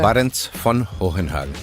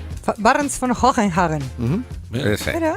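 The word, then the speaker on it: Barents-von Hohenhagen: Barrents von Hohenhagen. Barrents von Hohenhagen. Aquí alemán, el alemán.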